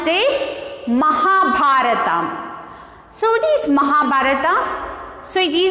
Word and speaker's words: Mahabharata: Mahabharata. How to pronounce this? Mahabharata.